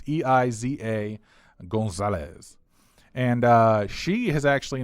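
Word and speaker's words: Eiza González: we got a next on the John Hammond ASA Gonzales I think that I you pronounce her name it's a Iza Gonzales and she has actually not been in a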